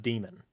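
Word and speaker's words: daimon: is actually pronounced a it's just pronounced demon uh you know what's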